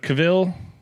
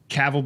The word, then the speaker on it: Cavill: But Cavill, is that how it's pronounced?